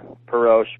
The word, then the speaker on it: Perosh: Is it Perosh? I've heard it pronounced both ways. Yeah, I have too. I call it Perosh.